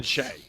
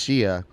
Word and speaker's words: Shia: __ ] read it's always been che so she cuts her off it goes first of all it's Shia and I just got